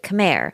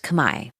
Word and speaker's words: Khmer: And I know we typically say kamair, but Yun says it's actually pronounced kami.